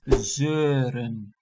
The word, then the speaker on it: zeuren: And nagging is zeuren.